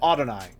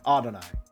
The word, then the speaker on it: Adonai: Pronounce it a long A, so Adonai. Gotcha. Not Adonai. Adonai.